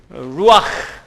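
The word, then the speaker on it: רוח: Can you pronounce? Repeat after me. It's kind of, difficult, kind of weird. Ruach.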